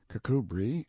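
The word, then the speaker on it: Kirkcudbright: of chalmundale castle warwickshire pronounced kakubri flanover marshbank sellers vikant barkley of chumley castle workshop he is standing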